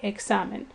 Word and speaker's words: examen: You can hear the stress over the A, examen.